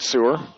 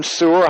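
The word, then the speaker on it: Suhr: I think it's how you say it, Sewer. S-U-H-R.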